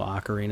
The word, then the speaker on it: Ocarina: when I was playing through Legend of Zelda Ocarina of Time or Ocarina of Time however you want to pronounce it not here to judge even though Ocarina is the proper pronunciation in my mind uh and everyone else